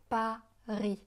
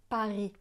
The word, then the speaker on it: Paris: Alors attention à la prononciation, on dit « Paris », Paris. Le S de Paris est muet.